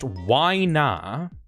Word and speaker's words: Winna: Next one is Winna, pronounced Wyna by Caprasol.